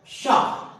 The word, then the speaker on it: pshaw: कुछ और ऐसे वर्ड, शाह, PSHAW, शाह। यहां पर स्पेलिंग पी से स्टार्ट हो रही है क्योंकि एस के पहले पी आ रहा है।